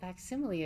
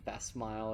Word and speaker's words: facsimile: You're essentially operating as a digital facsimile of yourself while the body sleeps. Wait, it's pronounced facsimile? Yeah. Oh. Have you been saying fast smile or something?